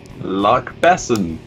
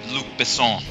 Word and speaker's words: Luc Besson: Luck Besson. That's a way of pronouncing it, but we will accept that answer. Yep. And Ryan, did you get that too? The correct pronunciation is Luc Besson.